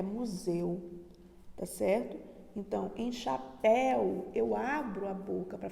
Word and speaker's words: chapéu: E percebemos que a palavra que tem o ditongo aberto é a palavra chapéu, tá? Ó, chapéu. E a palavra que o ditongo está fechado é museu, tá certo? Então, em chapéu, eu abro a boca para falar chapéu.